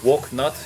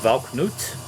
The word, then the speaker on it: Valknut: a look at this one is it's not pronounced walk nut it is pronounced valknut valknet anyway grave forests and their shadows uh